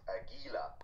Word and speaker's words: Aguila: He is also the cousin to Regina, and just to get you knowing the proper pronunciation, it's Aguila.